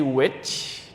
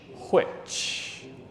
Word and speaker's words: which: I told you uh nowadays you can say which like a witch you know like the